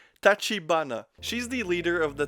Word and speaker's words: Tachibana: She then explains to them that she is the boss of the Tachinaba. Oh my god, my Japanese. I'm gonna have to go back there just to pronounce things correctly. Tachibana.